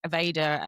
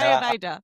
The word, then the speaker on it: Ayurveda: No, Ayurveda. There we go. Aveda is the hair products, darling.